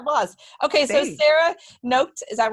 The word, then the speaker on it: Noked: Noked. It's Noked. It's like naked with an O. Noked. Naked with an O. The emphasis here is on the end of the word. It's like the last syllables.